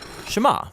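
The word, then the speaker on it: שְׁמַע: is hear or listen which in hebrew is pronounced Shema that's where the prayer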